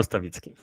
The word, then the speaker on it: Stawicki: Stawicki. Stawicki? Is it Stawicki? Well, this is how you English people read it. In Polish, we spell it Stawicki.